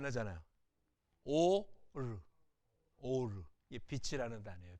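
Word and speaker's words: אור: 레이시 알 발음이거든요. 읽어보시죠 한번. 소리 안 나잖아요. 오르, 오르.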